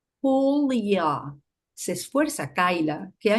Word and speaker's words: Julia: Hi, Julie. A Julia no le gusta como dicen su nombre, le suena a lluvia. Es con J, recalca, y pronuncia su nombre despacio, exhalando un leve soplido. Julia.